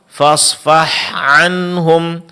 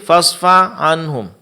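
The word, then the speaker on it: فاصفح عنهم: Contoh fasfah anhum. Fasfah anhum. Sering terjadi fasfa anhum. Di sini huruf H-nya tidak jelas.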